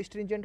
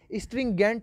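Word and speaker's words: stringent: ये आपके लिए ही मैंने पहली बार इस शब्द को स्ट्रिंजेंट पढ़ा है, वरना मैं इसे हमेशा स्ट्रिंगेंट ही पढ़ता हूँ, मतलब स्ट्रिंगेंट, ये गलत है स्ट्रिंगेंट, लेकिन मैं पढ़ता हूँ ताकि स्पेलिंग मिस्टेक ना हो।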